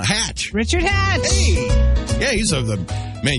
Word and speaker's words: Hatch: it Richard something yes it rhymes with with match uh hatch Richard Hatch hey yeah